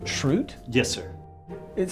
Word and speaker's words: Schrute: So Dwight, it's pronounced Schrute?